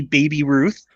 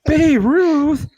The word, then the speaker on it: Babe Ruth: And then the fact that the kid couldn't even pronounce his name correctly, he called it some lady Baby Ruth. Baby Ruth, yeah, it was a Baby Ruth, and they're like Babe Ruth, yeah, that hurts.